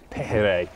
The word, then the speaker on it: pejerrey: And this is, they call it kingfish, or pejerrey, I believe is the pronunciation of this fish here by the locals.